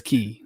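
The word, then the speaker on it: Cay: Oh, no, Castaway K. is it K or Key? I never know. It's spelled K, but everybody says Key. Like even the Disney travel agents say Key.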